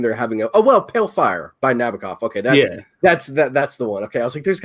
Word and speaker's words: Nabokov: It's Nabokov. God. It's not Nabokov.